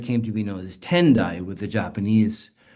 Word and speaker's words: Tendai: In Japan, it came to be known as Tendai with the Japanese pronunciations.